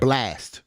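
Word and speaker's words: Blxst: Brunch on Sundays with Blix. That's No, it, right? Blast. Blast. My That's fault. how you pronounce Blast.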